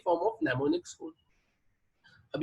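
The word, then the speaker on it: mnemonics: इन the form of नेमोनिक्स code. अब ये नेमोनिक्स code मतलब क्या होते हैं, जहां पर एम क्या होता है आपका साइलेंट होता है ना, और ये नेमोनिक्स कोड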